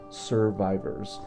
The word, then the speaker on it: SRVIVRS: And it's spelled a little different. It's SRVIVRS. So we serve so I can survive. Survivors.